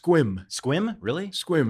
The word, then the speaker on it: Sequim: town called Sequim squib squeamish at site it's pronounced quim quim really squirm it's a Native American or